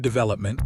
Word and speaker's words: development: Development, stress is on the second syllable.